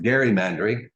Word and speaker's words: gerrymandering: One of the things that happens in our country when it comes time to draw the congressional boundaries is a process called gerrymandering, sometimes pronounced gerrymandering, named after an early